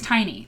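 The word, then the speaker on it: Tinnie: Scott, Sharon Williams, and Tinny Petway. Oh, Tinny. No, sorry, it's Tiny. That's how you say it.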